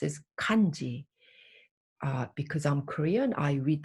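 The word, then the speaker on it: 漢字: would be pronounced as kanji because i'm korean i read that as hancha if i were vietnamese i would go i would say hantu so the same visual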